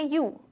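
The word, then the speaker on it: ewe: Sheep, mail को बोलेंगे रैम और फीमेल को बोलेंगे यू। इसकी प्रोनाउंसिएशन यू है, इसीलिए अगर हम सिंगुलर में बात करेंगे तो यू के साथ एन आएगा। For example, I सॉ एन यू, ठीक है।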